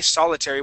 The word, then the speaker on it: solitary: Okay, solitary with the accent at the beginning.